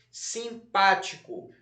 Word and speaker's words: simpático: Simpático, um tracinho embaixo da sílaba pá.